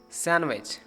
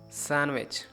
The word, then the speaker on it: sandwich: But actual pronunciation of this word is handsome. Grandson, Wednesday, sandwich. Now repeat after two words, handsome, sandwich.